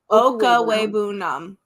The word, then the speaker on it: Okwuegbunam: Is it Okwuegbunam? Is that what you said? Okwuegbunam. Okwuegbunam. Yeah, it's honestly, when you look at it, it's really lame, but it's exactly how it's spelled.